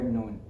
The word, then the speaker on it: noon: of our tongue so the letter noon is pronounced the makraj's articulation point is the tip of your tongue touching the gums close to your top central incisors your top front teeth two front teeth now it's a little